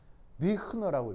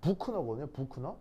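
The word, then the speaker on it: Büchner: 그래서 이게 어떻게 읽냐면 비흐너라고 읽어요. 알겠죠? 비흐너. 뭐라고? 자, 만수를 뭐라고 읽는다고? 자, 어떻게 읽냐면 이게 이제 독일어거든요. 독일어인데 이게 유 발음은 독일어에서 그냥 우예요. 우 이건데 그냥 그럼 만약에 이렇게 썼으면 부크너거든요. 부크너인데 그리고 이제 뒤에 얘는 거의 키읔 발음이에요. 그러니까 키읔이라기보다는 이제 키읔 발음인데 키읔 발음이고 뒤에는 그냥 너 이렇게 발음하면 돼요. 그래서 이제 그러니까 부크너 이렇게 발음하면 되거든요.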